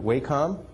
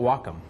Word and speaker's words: Wacom: the Wacom tablet w a m some people pronounce it waycom we were told by the people at the manufacturing plant that they call it Wacom think baseball don't let him hit welome there